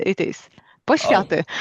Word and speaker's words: Poświaty: Poświaty it is. Oh, Poświaty.